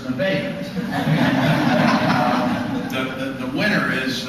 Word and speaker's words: Nevada: uh I'm a West Nevada no sir it's Nevada um the the winner